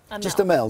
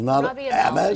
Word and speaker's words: Amell: Just Amell, not Amell. You don't go French, you don't go whatever. Robbie Amell, Robbie Amell, and May Whitman.